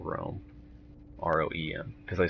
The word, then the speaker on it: Roehm: And that's, and it's R-O-E-H-M, Rome, not like the capital Rome, R-O-E-M, because they spell it wrong, even though they were first by a long shot.